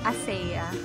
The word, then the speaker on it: ACEA: Dito po tayo ngayon sa ASEA. Pero ibang pronunciation nila, ASEA.